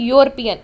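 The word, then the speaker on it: European: अगर हम इसको प्रोनाउंस करें तो हमारे पास ये वाई का साउंड आ रहा है। ठीक है? यूरोपियन। यूरोपियन हम इसको नहीं कहते। हम इसको कहते हैं यूरोपियन। ई साइलेंट हो जाता है यहां पर।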